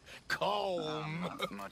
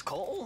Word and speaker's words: Colm: It's not Colm. Colm. It's Colm. So, in Ireland, we say Colm.